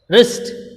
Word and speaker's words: wrist: So, regarding the W letter, so look at the word wrist. So, here W is silent.